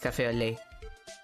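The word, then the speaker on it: café au lait: Wait, cafe au lait. You're not supposed to pronounce the T.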